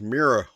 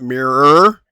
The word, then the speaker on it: Meera: Number five, go figure, is mirror wolf. Um, not mirror. Mirror. Almost like your dinosa your your friend Thalen's dinosaur companion. Um, in fact, I think it's spelled the same exact way.